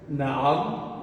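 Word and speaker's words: نعم: Então, como seria a pronúncia? Na'am, ou seja, você para, tem uma vírgula.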